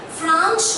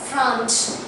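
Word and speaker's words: Franz: playing the role of France. So here, though the pronunciation is same as the country France, but the spelling is different.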